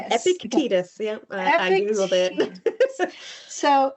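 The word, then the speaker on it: Epictetus: Epictitus.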